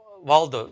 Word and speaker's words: Waldo: really important uh waldo did i pronounce that right yeah yeah you got it like where's waldo well done okay and